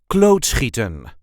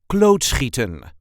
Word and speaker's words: klootschieten: a regular Dutch accent klootschieten, a typical Dutch sport. This is how we say klootschieten. Klootschieten. There is a light emphasis on the first syllable.